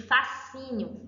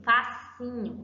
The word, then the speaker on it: fascínio: Em SC, eu tenho exemplo de fascínio, fascínio. Eu pronuncio somente um.